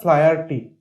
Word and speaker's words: Flaherty: বলছে লিয়াম ও ফ্লায়ারটি, উচ্চারণ হবে ফ্লায়ারটি, ঠিক আছে, জন্মেছিলেন 1896 সালে, 1896, মারা গেছেন 1984-এ।